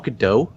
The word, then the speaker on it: Gadot: So I mean, she is kind of her and Gal Gadot looks fairly similar, actually. I gotta call you out on something, Marty. Isn't it Gadot? Isn't it Gal Gadot?